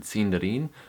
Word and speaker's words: Sindarin: And the third way I was mispronouncing the word cinderin was by mispronouncing my vowels. The letter I is pronounced like a long e sound.